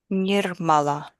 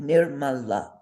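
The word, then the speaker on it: निर्मला: Say that with proper accents. Pretend I have my drum. Nirmala. Perfect. Nirmala. Perfect. Everything is the same weight.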